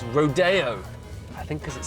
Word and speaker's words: Rodeo: Now, um I would have thought you'd pronounce it Rodeo, but I'm reliably informed it's Rodeo.